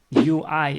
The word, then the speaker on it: ui: Onion in Dutch is ui. So how do you pronounce it? Well, probably you are able to say ah. So repeat with me, ah.